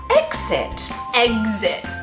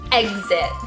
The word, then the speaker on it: exit: I think the kind of egg, like, you know, with the G sound goes into a lot of words. Like yeah. Examine and yeah. Can't think of any others, but. We definitely say the exit. Yeah, rather than a G sound.